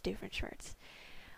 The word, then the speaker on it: Doofenshmirtz: It's pronounced Doofenshmirtz.